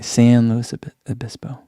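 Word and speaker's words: San Luis Obispo: do you guys think San as in San Diego okay San Louis abiso okay there we go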